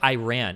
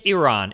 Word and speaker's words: Iran: And she's like, or no, somebody said Iran. And she's like, it's Iran. If you're going to pronounce my country's name right, say it correctly.